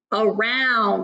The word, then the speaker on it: around: on this word is around and I see here that schwa sound at the beginning up instead of ah good let's bail Hey